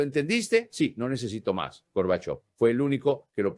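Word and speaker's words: Горбачёв: Ahora, de of of, ahora pronuncia of con el acento y dilos juntos, Gorbachov.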